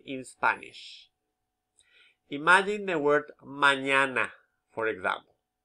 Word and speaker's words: mañana: Imagine the word mañana, for example. Where is the stress? Mañana. Second syllable, isn't it?